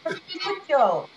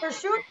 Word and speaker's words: prosciutto: The prosciutto. Say it again. Prosciutto or prosciutto. You'll hear it pronounced both ways depending on what region you are in Italy as well.